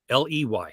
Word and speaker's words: Gownley: Gownley.